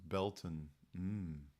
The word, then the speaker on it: Baileyton: Baileyton is pronounced Belton.